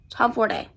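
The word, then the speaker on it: Tomforde: I heard somebody say that Liz herself said that was the pronunciation of her last name, Tomforday.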